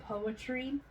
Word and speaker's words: Poetry: I come from a little bitty town in Texas called Poetry, just like it's spelled.